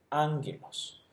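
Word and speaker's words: ἄγγελος: Entonces, la pronunciación es equivalente al H muda en español. Simplemente no la pronunciamos, pero la tenemos que escribir. Entonces decimos ángelos.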